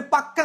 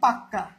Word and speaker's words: পাক্কা: কি একই বিষয়কে আমরা জোর দিয়ে বলি কি পাকা মানে পাক্কা আসবো আমি ঠিক আছে দেখ তাহলে কি কখনো কখনো কি জোর জোর বিষয়টা আসতে হবে কি জোর জোর দেওয়ার জন্য শব্দের অন্তর্গত ব্যঞ্জনের উচ্চারণ উচ্চারণ কি দত্ত হবে কি হবে দত্ত মানে দুইবার দত্ত হবে ঠিক আছে দত্ত ব্যঞ্জন ব্যঞ্জন দিকটা বলে যেমন পাকা দেখ পাকা থেকে এটাকে জোর দিয়ে আমরা বলি পাক্কা পাক্কা এটাই হচ্ছে কি ব্যঞ্জন